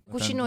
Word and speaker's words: cucino: con un accento romano: "Cucino io". Anche qui la c diventa un po' sh, come in Toscana, cucino io.